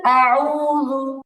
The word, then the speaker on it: أعوذ: হচ্ছে আপু দুইটা সূরা একটা কমন ভুল হয়েছে সেটা হচ্ছে কুল আউযু এখানে শব্দটা আউযু হচ্ছে মানে আইনের জায়গায় ওয়াবের উচ্চারণ হচ্ছে দালের জায়গায় জিম হচ্ছে এটা একটু ঠিক করতে হবে আপু কুল আউযু قل أعوذ আউযু জাল পেশ জালটাও সায়ের মতো নরম হবে জু জাল পেশ জু